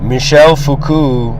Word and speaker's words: Michel Foucault: Michel Foucault, that's actually how they say his name.